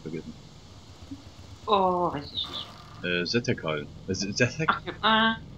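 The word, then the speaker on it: Sethekk: Zetekal. Zetek? Spricht man es mit TH aus oder mit T? Mit TH, glaube ich.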